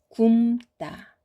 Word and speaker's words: 굶다: 그래서 아니고 젊다, 젊다, 굼다, 굼다 이렇게 발음합니다.